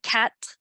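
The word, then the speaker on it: quatre: is 60 and then cat it's pronounced cat like a cat is going to be 64.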